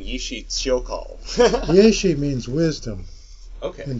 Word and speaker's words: Yeshe Tsogyal: How I pronounce it, that's not how everybody else necessarily does, is Yeshe Tsogyal. Okay. Yeah, I've been saying Yishi Tsyokal.